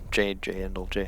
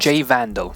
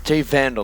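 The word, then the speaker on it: J Vandal: That's where I want to, I mean, obviously Thatcher, Jay Endel, how do you say his name again? I'm lost. Jay Vandal. Jay Vandal, that's right.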